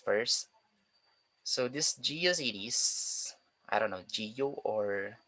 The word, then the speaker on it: GeoCities: So let's start with GeoCities first. So this GeoCities, I don't know, Geo or Geocities. They said that the correct pronunciation of this one is Geocities, not Geocities.